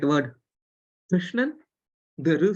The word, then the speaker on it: Krishnan: see the right word Krishnan, the ru sound, which is neither ri nor ru. Of course, in Tamil we write as ki ru, but when you pronounce it, it becomes kr.